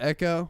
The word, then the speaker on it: Ekko: Oh, yo, Nick said, "I love Echo, dude." Dude, yeah. He looked Echo. fucking Nick's, badass. not to be bro. not to be an elitist here, but you spelled Echo's name wrong. It's EKKO.